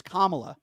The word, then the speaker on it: Kamala: don't you pronounce her name right? It's Kamala.